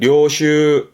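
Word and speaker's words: 領袖: 발음은 료슈 료슈 음으로 슈갑니다.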